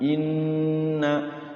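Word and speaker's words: إِنَّ: Dipastikan kalau diketemu nun tasdid, mim tasydid di dalam Al-Qur'an jangan bacanya langsung tapi nahan dulu. Inna tumma imma anna.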